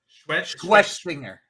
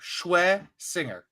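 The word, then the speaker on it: Schwesinger: But yes, Carson Schwessinger. Schwe, like sweaty balls. Schwessinger.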